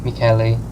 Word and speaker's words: Mikkeli: Mikkeli. That's how you pronounce it.